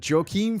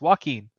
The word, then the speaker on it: Joaquin: to be joking about no it's Joaquin right no it's walking whatever anyway if you